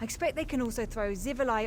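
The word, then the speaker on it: Xivilai: What this has taught me is that those words are pronounced Zivili, Orgrims, and even Scamps.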